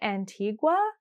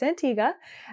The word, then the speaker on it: Antigua: antia which I learned I was saying Antigua but we actually learned basically we when we were in the airport and they called our flight to Antiga that we were saying it wrong so it's Antiga um so Antiga is